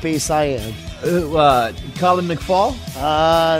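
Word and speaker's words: McFaull: I am Oh Colin McFaul ah that's not it really it's like foul almost foul okay I got basically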